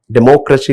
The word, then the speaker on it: democracy: the Democracy here it is given polysyllabic word democracy comes under polycerbic okay and the uh C there are four syllables included in this word but we highlight